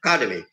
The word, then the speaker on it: academy: the world in in the world academy the stress is on the car so academy there's an academy in